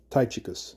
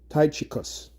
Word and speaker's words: Tychicus: Now, Tychicus is mentioned in the scriptures, one of the Apostle Paul's understudy, Tychicus, or Tychicus. I believe that's how it's said. Tychicus, right?